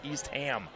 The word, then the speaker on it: Eastham: By the way, the residents of the great state of Massachusetts have reached out to tell me that I've mispronounced Eastham. It's Eastham.